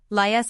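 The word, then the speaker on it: Laius: A IU S underscore pronounced as three syllables. Lias underscore underscore the last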